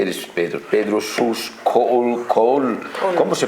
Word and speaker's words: Kohl: Col col. ¿Cómo se pronuncia?